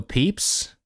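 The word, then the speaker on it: Pepys: Samuel Peeps. Is that what do I need to know? This guy is he important. It is pronounced peeps.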